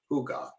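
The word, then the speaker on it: hygge: they actually do have a concept called huga h-y-g-g-e pronounced hygga approximate translation cozy in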